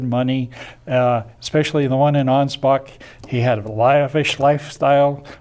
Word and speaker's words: Ansbach: I was stationed, and Ansbach. They misspell that, by the way, but it's A-N-S B-A-C-H, not a P, as you'll see written in some English deals today.